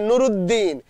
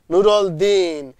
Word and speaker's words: নূরলদীন: নামটি লিখেছেন নুরুল উদ্দিন, আমরা বলবো ওটা হবে নুরুদ্দিন, কিন্তু আমি ব্যবহার করেছি নুরুল দিন, রংপুরের সাধারণ মানুষ যেমনটি উচ্চারণ করবে।